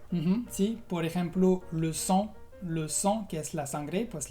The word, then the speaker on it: sang: O también, por ejemplo, lent, que es lento, la T no se pronuncia.